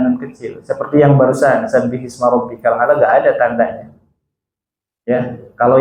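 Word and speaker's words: سَبِّحِ اسْمَ رَبِّكَ الْأَعْلَى: Sabbih isma. Nah, maka sukun yang pertama di huruf H diberikan harokat kasroh. Sabbihisma rabbikal a'la.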